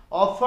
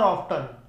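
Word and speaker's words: often: भी हो सकता है, ऑफन और ऑफ्टन, ये दो प्रोनाउंसिएशन है इसकी। अमेरिका में ऑफ्टन बोलते हैं और जो है यूके में हम जो है वो ऑफन बोलते हैं।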